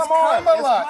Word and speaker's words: Kamala: It's Kamala.